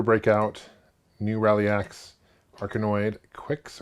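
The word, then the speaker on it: Qix: new rally ax arcanoid Quicks or kicks I think it's Quicks I always pronounce it Quicks uh Juno first great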